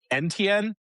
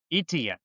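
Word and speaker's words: Etienne: Have you heard NTN? That's not how you pronounce his name. ETN.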